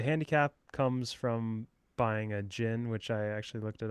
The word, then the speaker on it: GHIN: So, the handicap comes from buying a gin, which I actually looked it up and I guess the way to pronounce g h i n is jin.